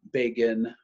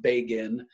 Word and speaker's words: Begin: his name is Menachem Begin is the way that name is it looks like begin his name is actually pronounced Bagan Menachem Begin and the